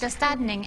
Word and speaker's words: Döstädning: It's called, let me see if I can pronounce it, Döstädning? Close. Yes. Döstädning, and that is Swedish death cleaning.